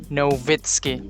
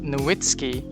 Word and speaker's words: Nowitzki: nga German si Dirk Nowitzki. Ang W sa ilaha kay pronounce siyag V. So imbis Nowitzki Nowitzki.